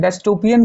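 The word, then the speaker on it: dystopian: यानी कि film maker को featuring a डस्टोपियन विज़ ऑफ a society with सुपरमसिव बिग इन जो ये ऐसे प्रकार के मूवी दिखाते हैं डस्टोपियन कहने का मतलब डिस्टोपियन इसका जो प्रोनाउंसिएशन होगा डिस्टोपियन होगा यूटोपिया के विपरीत भयावह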